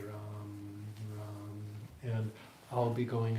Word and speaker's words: Ram: Okay, so R-A-M, but with a long A, Ram, Ram.